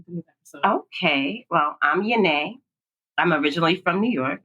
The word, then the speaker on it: Y'Na: It's Yone. Yone. Y''N''A.